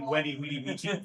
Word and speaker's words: Veni Vidi Vici: in the point is the way that historic Latin was pronounced. All of the V's that are in were pronounced as a W. And it sounds a lot sillier. Like Veni Vidi Vici sounds a lot cooler than Weni Vidi Vici.